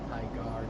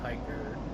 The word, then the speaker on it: Tigar: Yeah, it's Tigar, not Tiger.